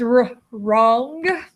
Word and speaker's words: wrong: It says wrong. You're not right. You're wrong. Here's your KN. K is silent.